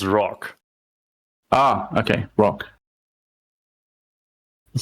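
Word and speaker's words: Rokh: battleship no no no that's pronounced Rock ah okay rock I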